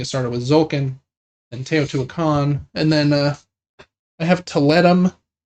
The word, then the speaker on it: Teotihuacan: version reprint of another very famous game called Teotihuacan, I think is how you pronounce that. Teotihuacan.